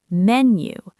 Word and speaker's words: menu: into have the, and menu has the stress on the first syllable, menu.